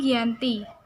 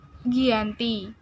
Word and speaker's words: Giyanti: tanggal 13 Februari 1755 nama giante diambil dari nama lokasi penandatanganan perjanjian tersebut yaitu Desa Janti di dalam pelafalan Belanda tersebut dengan Giyanti secara tertulis terbaca sebagai Giyanti tempat tersebut sekarang dikenal